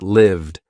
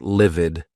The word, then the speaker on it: lived: mugged hummed used quizzed lived not livid that's another word not livid lived I wished I lived